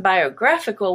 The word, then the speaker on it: biographical: be green biography but in biographical which is the adjective it changes to become the a the stressed and now the a is no longer a schwa but it is black biographical abnormal is orange